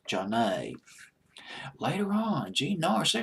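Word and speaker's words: Zhané: way that first Motown album was called pronounced John a later on gene Norris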